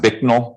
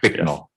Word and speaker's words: Bicknell: So So it's pronounced Bicknell. That's how people say it. I believe so, Your Okay. Honor. Bicknell.